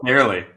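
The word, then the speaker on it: Fairleigh: How do you say Farley? I actually don't know. I think it's Fairly. Fairly Dickinson.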